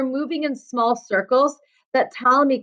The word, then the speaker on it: Ptolemy: came along colony claudius ptolemy the letter p is silent and claudius ptolemy still believed in the